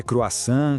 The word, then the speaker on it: croissant: Essa palavrinha aí, croissant. Todo mundo adora, né? Mas na hora de falar, vira uma armadilha. É croissant, croissante.